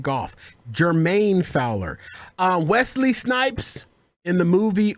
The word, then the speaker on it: Jermaine Fowler: You're saying Jeremy Fowler. Oh, it's Jermaine. Fowler. Yeah, because Jeremy Fowler is a golf player. You're right. White. And I do like golf. Jermaine Fowler.